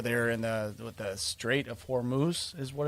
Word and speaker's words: Hormuz: And of course, everybody knows, the geographical challenges in, over there in the Strait of Hormuz is what it's called. Yeah. Yep. It's pronounced correctly.